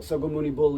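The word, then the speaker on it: 석가모니불: Sogamuni Bul is the Korean pronunciation of the name of Shakyamuni, of the historical Buddha.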